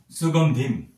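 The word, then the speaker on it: সুগন্ধিম্: পরবর্তীতে আমি সুগন্ধিম। এটি অনুসারের উচ্চারণ আমি একটু আগে আপনাদেরকে বললাম অনুস্বার উচ্চারণ হবে ম। সেক্ষেত্রে এটির উচ্চারণ হবে সুগন্ধিম।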